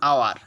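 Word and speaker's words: hour: এবার দেখো এইচের উচ্চারণ যদি এইচের মতো উচ্চারণ না হয়, যেমন আওয়ার, এই যে এখানে বলা হয়েছে আওয়ার, ঠিক আছে। আওয়ারে কিন্তু এইচের উচ্চারণ এইচের মতো হয় নাই, আওয়ার ওয়ের মতো উচ্চারণ হচ্ছে সিম্পল, এইচের বাইরে, সেক্ষেত্রে কি হবে, অ্যান হবে।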